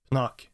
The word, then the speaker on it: Pnuk: started in 2014 actually I'm not entirely sure what the proper pronunciation is but I'll pronounce it as Knuck and I will explain why